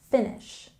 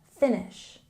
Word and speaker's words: finish: And here we have a stress on the first syllable, finish, finish.